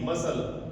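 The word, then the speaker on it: muscle: Saint यानी खुशबू और मसल एम यू एस सी एल ई मसल। ये एस है हमारा। इसके तुरंत बाद क्या आ रहा है? सी। तो ये बोला जाएगा मसल। इसमें सी साइलेंट रहेगा।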